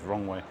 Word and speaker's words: Roewe: very interesting nice so yeah that's pretty much wrong way or row well it's it's spelled Row Way in English writing but the pronunciation in Chinese is wrong way is another standard rx9 so this must be